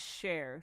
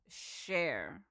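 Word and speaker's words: Charr: It's C H A R R, but it's pronounced share.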